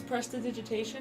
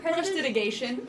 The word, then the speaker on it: prestidigitation: Because it's prestidigitation. Do you want to know how he says it? Prestidigation. Prestidigation. I can't say Prestidigation. He can say it correctly, but he said it wrong one time and it pissed me off, and now he won't stop. And he always calls it prestidigation, and I want to beat him senseless.